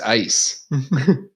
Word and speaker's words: Eis: That's another point for Germany then, because ice in German is just ice.